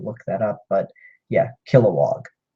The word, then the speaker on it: Kilowog: that up but yeah Kilowog kill like to murder oh and then walk I don't I don't know what an example for would be but Kilowog katma tui she's another